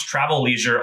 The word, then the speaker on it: Travleisure: i am pumped that i uh read and pronounce travel leisure on the fly correctly the first time that's